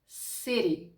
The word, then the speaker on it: Siri: По-перше, між голосними, як у слові сирі. Сирі. Повторіть за мною. Siri.